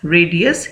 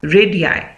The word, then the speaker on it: radii: इसका जो प्रोनाउंसिएशन है वो होगा रेडियाई, ठीक है, रेडी नहीं होगा, रेडियाई।